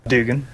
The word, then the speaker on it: Dugan: Is it Duggan or Dugan? Dugan.